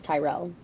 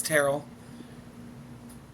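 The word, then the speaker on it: Tyrrell: I thought it was Tyrell. No, it's Terrell.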